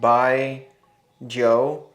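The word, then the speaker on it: Baijiu: If you guys know, if you've ever had, it's pronounced Bai Joe.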